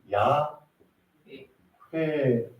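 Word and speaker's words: 야훼: 조금 더 하나님의 이름을 정확하게 표현하면 여호와 라기보다는 야 회 회라는 단어가 조금 더 하나님의 이름의 정확한 단어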